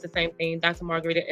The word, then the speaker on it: Marguritte: um my name is Margarita so you see it on the screen here it looks like margarit but it's pronounced Margarita so go follow me